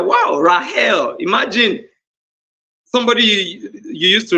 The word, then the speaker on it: Rachel: Do you know that the correct way to pronounce Rachel is Rahel?